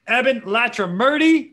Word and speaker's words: Ebin Latrimurti: the real rescue podcast today man my man evan latra murty is that pronounced correctly by the way because i think